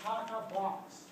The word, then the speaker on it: TATA box: It's a 6-nucleotide sequence called a Tata box. Very easy to pronounce the actual DNA sequence because the actual DNA sequence is a whole set of variants based on TA.